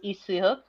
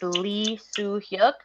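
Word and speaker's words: 이수혁: Yeah, it's I mean the Korean pronunciation is Isuyuk. It's if we were using like English, it's Lee Soo Hyuk.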